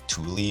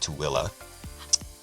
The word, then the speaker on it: Tooele: here in Tooele yes it looks like Thule or I don't know it's it's pronounced tooilla um you they are